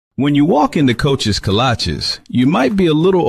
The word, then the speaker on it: kolache: When you walk into Coach's Kolaches, you might be a little overwhelmed by all the great choices, but do not be overwhelmed by how to say it. What the kolache?